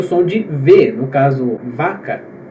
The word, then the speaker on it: vaca: vai ouvir o som de ver no caso vaca vaca só que isso a gente também vai discutir